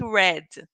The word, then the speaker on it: read: parts but we say the pronunciation is red red just like the color for infinitive read past